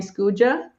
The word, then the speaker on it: Skuja: been saying it right the team and my friends call me scooja because it's funny I'm so used to it because it's how it's pronounced in English but as a as